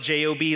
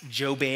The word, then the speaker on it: Job: how many of you have heard of job it's spelled j-o-b like job but it's pronounced joe bai i don't know you guys remember hey hag